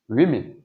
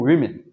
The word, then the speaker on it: women: devient m o n men ok woman two women alors là il faut prêter attention à la prononciation one one woman one woman two women c'est évidemment avec un o mais on prononci